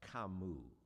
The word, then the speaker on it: Camus: Nub said, "It's pronounced Kamu."